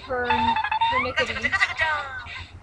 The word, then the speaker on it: pernickety: Or as how the British say it, pernickety.